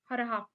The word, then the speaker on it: ह्राः: हरहा, ये मंत्र है पद्म पुराण में।